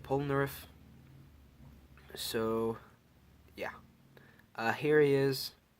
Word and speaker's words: Polnareff: favorite of these minifigures Pollan earth or pollen RF however you want to pronounce it I like pronouncing it polnareff so yeah here he